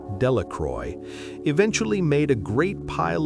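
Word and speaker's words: Delacroix: The villagers pronounced this name Delroy, eventually made a great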